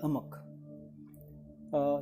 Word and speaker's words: amuck: Next अमक, AMUCK, अमक। एक बार इसके pronunciation को क्लियर कर दो, अमक और अमुक, अमक ही होना चाहिए।